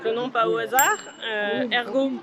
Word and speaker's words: Air'Go: nom pas au hasard Hergo parce que ça fait à ergoérapie et ça s'écrit a i r Go aller à l'air c'est